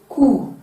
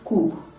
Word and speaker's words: coup: received it is received coup not coop physics not physics philosophy